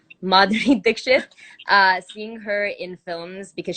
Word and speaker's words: Madhuri Dixit: and seeing madhuri they mud i said her name wrong madhuri dixit seeing her in films because she's also a